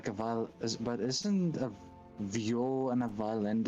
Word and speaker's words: viol: Also, I have no idea why it was bugging me so much, but the instrument is pronounced viol. instead of vial.